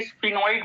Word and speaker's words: sphenoid: एक बोन तो है हमारी जिसे हम बोलेंगे स्फिनॉइड बोन।